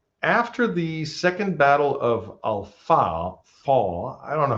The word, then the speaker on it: Al-Faw: But after the second battle of Al-Faw, I don't know how to pronounce that. It's F-A-W, Al-Faw.